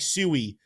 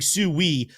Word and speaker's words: Sui: It very much, T-Shroom, looks like Sui is going to be the ongoing pronunciation of this Litecoin. 71% saying Sui, only 29% saying Sui.